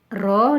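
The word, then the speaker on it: ρ: seperti ini baca ini ditulis bacanya roh Hai artinya hambatan jenis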